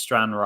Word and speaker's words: Stranraer: And this one here, so Stenhouse Muir, is it pronounced? Against Stranraer.